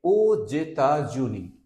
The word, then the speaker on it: aux États-Unis: This is pronounced like États-Unis, and here with AUX if you pronounce, so its pronunciation will be je vais aux États-Unis.